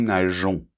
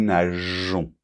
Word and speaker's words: nageons: Donc, par exemple, nous nageons. Donc là, pour que la prononciation soit régulière, on doit rajouter ce petit E qui fait que on prononce nous nageons.